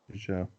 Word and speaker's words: Peugeot: Peugeot. Okay. Peugeot.